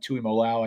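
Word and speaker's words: Tuimoloau: JT Tuimolo, I think is how you pronounce it.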